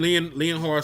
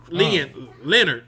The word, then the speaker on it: Leonhard: were against the Broncos, Jim Leonhard secondary, Leonard. I'm sorry, I keep saying Leonhard.